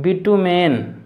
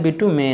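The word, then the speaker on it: bitumen: steel पारा mercury ES बिटूमेन बिटूमेन तो बोलते हैं बिट्टू में नहीं भूत तांबा मींस भूरा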